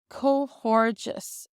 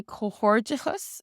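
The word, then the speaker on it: comhghairdeas: And then this is pronounced slightly different in the dialects. In Munster, they say cohordichus, so you might have heard cohordichus. And then this D in cohortus is often pronounced like a J or a G sound in connacht, so they'd say cohorgus. So cohorgus, cohortus, or cohordichus.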